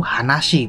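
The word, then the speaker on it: 話: Kalau berdiri sendiri ini dibacanya yaitu hanashi, Bro.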